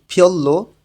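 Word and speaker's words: 별로: মানি বেশি, ঝংমাল সত্যি, ঝংমাল সত্যি, ফিয়ল্লো তেমন, রিউলের পরে রিউল আছে, দুইটাই লয়লা উচ্চারণ হবে।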